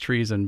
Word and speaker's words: TREESON: I just want to make sure I spell that out because it's pronounced treason, but it's TREESON, focusing on environmental concerns.